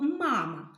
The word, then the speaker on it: мама: вимовте будь ласка слово мама мамо наголос падає на перший звук а тому що ми цей звук найбільше виділяємо голосом наголос Може падати тільки